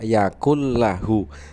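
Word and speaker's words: يكن له: surat al-ikhlas ayat 4 Yakun lahu tulisannya Yakun lahu tetapi dibacanya Yakul lahu karena nun sukun bertemu dengan huruf lam dan dicontoh lain ada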